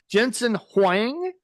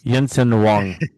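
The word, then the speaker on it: Jensen Huang: So, back to Brandon Jensen Hang. Is that how you say it? Okay. It's Yensen Wong.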